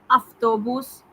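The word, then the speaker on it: автобус: एक जो common mistake student करते हैं वा का फा बनाना, जहाँ पढ़ा लिखा जाता है वा, पढ़ा जाता है फा। जाफ्त्रा, जाफ्त्रा, अफ्तोबूस, पढ़ने में फा आता है अफ्तोबूस, स्टूडेंट्स लिख देते हैं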